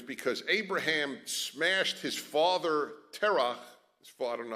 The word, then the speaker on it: Terah: And it was because Abraham smashed his father Terach, I don't know, how do you say it in English? Terah? Okay, in Hebrew it's terah. So allow me terah.